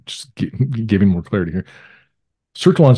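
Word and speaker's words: Sertillanges: Sertelange.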